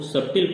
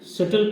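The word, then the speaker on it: subtle: अगर पूरा अक्षर पढ़ा जाए तो इसको सब्टिल पढ़ा जाएगा, लेकिन इसमें बी शब्द साइलेंट है, इसलिए इसको शटल पढ़ा जाता है और इसका हिंदी अर्थ जटिल होता है।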